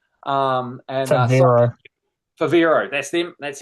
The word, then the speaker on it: Favero: I'm not even going to be able to pronounce it. Starts with F. Um and uh Favero.